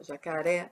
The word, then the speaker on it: jacaré: Ó, jacaré, jacaré, jacaré, jacaré, jacaré. Tá vendo? O oré vai lá em cima. O oré é a sílaba mais forte da palavra jacaré. Janela, vamos ver.